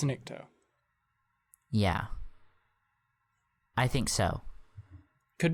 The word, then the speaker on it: Nikto: might be pronouncing that Niktos. incorrectly. Yeah. Does it end with a U or an O? It ends with an O. I think it's Nikto.